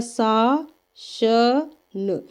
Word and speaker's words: शासन: का सही उच्चारण है तो शासन का सही उच्चारण होता है श स न शासन क्या है शासन प्रश्न नंबर 20 कवि